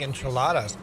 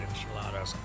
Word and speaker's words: enchiladas: It's pronounced Gnadenthal, as in Grace Valley in German. What do you think enchiladas?